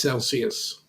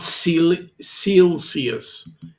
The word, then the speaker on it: Celsius: come around quick and yes it is Celsius not SE cus but um what I